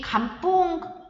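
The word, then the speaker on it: Cần Vương: 여기 감뽕 운동이라고 해서 근환 운동인데 감뽕은 이제 베트남 언어의 표현이고요. 언어적 그 어떤 단어, 그 발음 기호고요.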